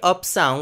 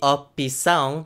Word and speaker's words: opção: be 4 syllables, or you could hear de opção, which would be basically 2 syllables, and lastly, the way that they sing it in the song, de opção, which is 3 syllables.